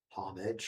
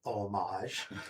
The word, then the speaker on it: homage: going to be the depending upon how you pronounce it, homage or homage for for Chong.